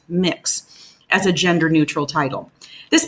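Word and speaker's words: Mx: and the UK recognizes M X pronounced mix as a gender-neutral title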